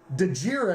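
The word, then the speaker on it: Djere: Dejir, I believe is how you pronounce his last name.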